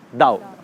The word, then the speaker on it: Tao: हम इसको पढ़ते हैं तो इट इज़ ताओ, TAO, बट we pronounce it एज दाओ।